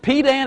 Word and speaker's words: pedant: Only the dullest pedant, is that the way you pronounce that word? P-E-D-A-N-T? Pedant.